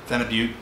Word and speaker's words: phenibut: and modafinol and uh phenibut venubute uh is the proper way to say it so you know i